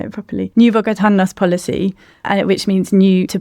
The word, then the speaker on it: Bogotanos: And it was called the New Bogotano, and I need to say it properly, New Bogotanos policy, which means new to Bogotá.